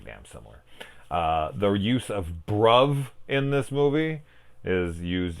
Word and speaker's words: bruv: where I'd be like spell that for me and they'd be like it's B are you V but yeah so it's brub and holy [ __